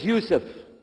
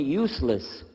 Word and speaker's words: Yusuf: we'll work on itah my name is Yousef can you say Yousef you said Yousef you're very good I wish you'd teach my wife she keeps mispronouncing it she calls me useless alhamdulillah now how many